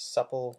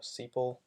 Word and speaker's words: sepal: let's copy the header depending on where you are it could be pronounced as supple or sepal again iris underscore DF